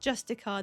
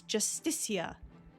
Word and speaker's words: Justicia: I keep saying Justicar. It's not Justicar. There's an I in there. It's Justicia.